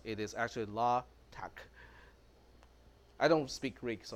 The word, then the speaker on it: LaTeX: but this actually pronounced la tack because la is actually in the English alphabet but it's tau epsilon Chi in the Greek alphabet so that's why it's not pronounced as latex it is actually la